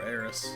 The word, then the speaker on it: Aerith: to be Aerith or Eris? A lot of people have been talking about that. That remains to be seen. Aerith is how it's said in Japanese, and that's how she's been voiced in everything since then.